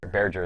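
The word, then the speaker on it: Bearger: Questions about the I don't actually know how to pronounce that monster's name. Berger? Berger. Berger is how you say it?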